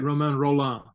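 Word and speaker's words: Romain Rolland: with oh um um you had it right Roman roll on okay roll on okay so don't you think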